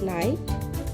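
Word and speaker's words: night: শব্দের মাঝে জিএইচ থাকলে এর উচ্চারণ হয় না। যেমন নাইট ডটার রাইট।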